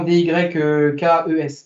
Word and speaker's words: Dykes: Alors, je sais pas si c'est Dykes que ça se prononce, mais pour devant D-Y-K-E-S.